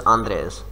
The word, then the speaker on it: Andres: name is what is the correct pronunciation of your name andres yes i remember now he gave me a voice note and the pronunciation of his name is andres his name is andres